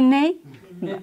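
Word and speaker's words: γυνή: ici le mot d'origine c'est goné je sais pas si goné comment gué Guiné Guiné on a on a le plaisir d'avoir une sœur Grecque avec nous qui va pouvoir nous donner la bonne prononciation Guin alors ici le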